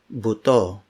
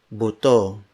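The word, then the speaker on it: buto: an example is puto Bhutto Bhutto notice the boo which is the first syllable Bhutto which means bone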